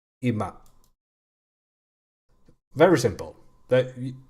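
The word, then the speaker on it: 今: uh which means now it's pronounced ima very simple that it's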